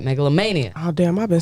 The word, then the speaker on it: Megalomania: want to make sure I say it right Megalania that's right Megalania oh damn I've been saying melanoma it's okay